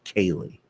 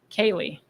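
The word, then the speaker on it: céilí: i t h e that is pronounced kaylee kaylee like my friend kaylee got it and it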